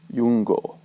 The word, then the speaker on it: iungō: I, when it represents a consonant, is pronounced like English Y. Yum, iungō.